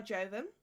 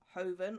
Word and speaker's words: Joven: So this one's by Joven, and that is how you pronounce it, Joven, not Hoven or Joven.